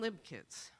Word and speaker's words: Libchitz: But the spelling and the pronunciation of the name has always been Libchitz. But Uncle Sam when he went through and immigrated, it was Libchitz.